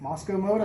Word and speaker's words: Mosko Moto: That's how you pronounce it? Mosko Moto.